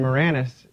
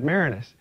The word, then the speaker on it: Maraniss: But the great thing was, when I was interviewed by Chuck Todd, he kept mispronouncing my last name. He was saying Maraniss instead of Maraniss.